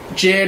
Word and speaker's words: JID: Jid or JID, I know people pronounce it different.